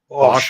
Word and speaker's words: Boesch: Is it Bo B is the pronunciation? Is it Bosch? Bosch. Bosch.